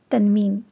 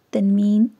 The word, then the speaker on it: تنوین: تنوین۔ اگلا لفظ ہے تنوین۔ تنوین میں نون کی آواز پیدا ہو جاتی ہے، یعنی کہ آپ کے